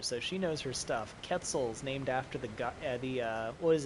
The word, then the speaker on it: Quetzal: So it is actually pronounced Quetzal.